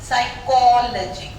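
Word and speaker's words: psychology: PS साथ आएंगे तो P साइलेंट हो जाएगा। साइकोलॉजी पढ़ते हो तुम लोग, नॉट साइकोलॉजी, साइकोलॉजी फोनेटिक्स है तुम्हारे कोर्स में, साइकोलॉजी, P साइलेंट।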